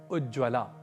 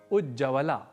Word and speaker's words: उज्ज्वला: प्रयोग नहीं करते और ऐसे ही एक शब्द है उज्ज्वला जैसे हम शीघ्रता वश उज्जवला ऐसा लिख जाते हैं जबकि शुद्ध तो उज्ज्वला ही होता है उज्जवला यह शुद्ध रूप